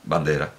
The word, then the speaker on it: Bandera: a pronunciarlo bien de hecho yo ya sabía pronunciar lo que pasa es que quiero estar seguro si bandera bandera russo bandera si bueno pues yo puedo